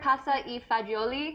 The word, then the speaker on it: pasta e fagioli: with is one pot pasta am am i pronouncing this right pasta e fagioli yes my Italian is a little rusty yeah